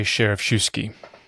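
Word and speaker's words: Schereschewsky: a name which is always a game to pronounce. Samuel Isaac Joseph Sheriffshuski? I say Sheriffshuski.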